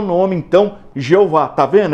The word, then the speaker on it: Jeová: Daí surgiu a pronúncia Jeová, que na nossa língua nós falamos Jeová.